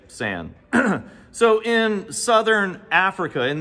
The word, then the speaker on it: San: s if you're tracking this online you may pronounce it s but I'm going to say San so in southern Africa in this desert region